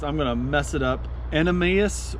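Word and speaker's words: Animas: gonna mess it up an Emmaus river I believe is how it's pronounced but the run is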